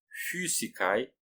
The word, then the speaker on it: physicae: Lembrando que na pronúncia restaurada, o Y tem um significado do U, que lembra o francês ou então o alemão com trema. Você faz boca de U e fala I.